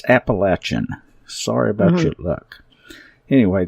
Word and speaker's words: Appalachia: to get involved with the Appalachia and we despise that word that that pronunciation. It is so incorrect and it's so pretentious. It's Appalachin.